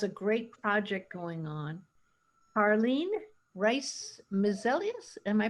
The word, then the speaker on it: Carline Brice-Mesilus: Carline Brice-Mesilus, am I pronouncing that correctly?